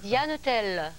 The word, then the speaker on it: Diane Tell: Au Pays Basque, à ton Pays Basque, ça va être souvent, longtemps, énormément, parce qu'on prononce toutes les consonnes. Donc, c'est Diane Tell.